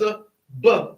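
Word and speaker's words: אב: Aleph has Aleph has a ah sound. The bait has a b sound. All right. So again, how do you say this? Abba. Ab. Ab. Like A and B.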